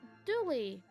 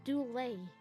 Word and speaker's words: Dooley: kevin okay summary dooley i actually mispronounced your name i called him doulay in the first case